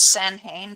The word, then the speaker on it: Samhain: in Irish it's the MH is pronounced like the letter W. It's just how the Catholics wrote down the Irish language. Okay. So How's Samhain pronounced in Irish?